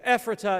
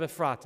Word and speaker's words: Ephrata: yes yes bird in hand okay paradise it's ephrata instead of a frata right yeah my second question that maybe is